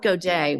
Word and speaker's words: Gaduet: as a superhuman um I have on Rob goday with me and I'm not even going to tell you I how I pronounced his uh his name before we even